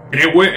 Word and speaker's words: Crewe: Bueno, yo estoy pronunciando eso como Crew. Crewe, entiendo que se pronuncia Crew.